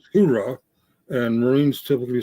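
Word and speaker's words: Hooah: I think it was the way he pronounced Ura or Hura. Army says Hura, and Marines typically say Ura.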